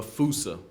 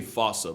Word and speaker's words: fossa: to lemurs everywhere the fusa although with its spelling I'm pretty sure it's actually fossa but the day I pronounce it like that is the day I lay my childhood to rest the Foos is pretty